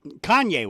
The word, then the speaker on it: Kanye: hip-hop Superstar King how do you say it Kane West Kanye West Kanye West thank you um he said